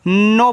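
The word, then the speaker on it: know: तो इसको सिर्फ आप क्या पढ़ोगे? नो पढ़ोगे। तो के एन ओ डब्ल्यू को नो पढ़ना है। बस इतना ही। यहां पे के आपका साइलेंट रहेगा।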